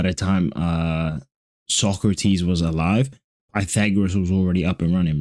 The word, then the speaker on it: Pythagoras: Socrates, Pythagoras is actually how you pronounce it, but I don't trip.